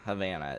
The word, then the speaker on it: Havana: Hav Hannah Havana. Havana is that is that's how you say it.